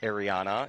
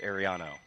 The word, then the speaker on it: Ariano: So, she wanted to make sure that we accentuated the O. It is not Ariana, it is Ariano.